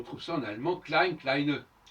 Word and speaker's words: kleine: On trouve ça en allemand klein, kleine. Sauf que les Allemands, ils prononcent le E de kleine et ils n'ont pas une façon de.